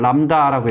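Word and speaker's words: λ: 기호로 CO자 거꾸로 쓰는데 읽을 때는 람다라고 읽어요.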